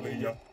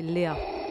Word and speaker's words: Léa: d'un avenir meilleur, chère Leia ? C'est marrant, vous dites Leia comme princesse Leia. Moi, c'est Léa.